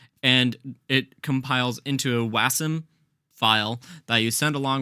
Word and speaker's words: Wasm: wasum you can basically or wasum I don't know how people pronounce it but I pronounce it wasum with wasam you can